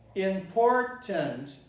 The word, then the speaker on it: important: Listen, important is pronounced with all the syllables in their entirety.